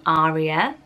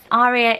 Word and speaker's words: Aria: But similarly, lots of people say Aria, and have a stronger A at the beginning of it. So how would you pronounce this? Aria is Italian for air, which is gorgeous, and in Italy they pronounce it Aria with a strong A. So that's one way of using this name. Or Aria is a solo in an opera, and another way of pronouncing it, which seems to